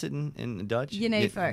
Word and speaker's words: Genever: Is that how you pronounce it in Dutch? Genever. Genever?